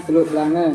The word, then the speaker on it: Teluk Belanga: Tulisannya Teluk Belanga. Di sini kita bacanya Teluk Belange kalau perempuan baju kurung.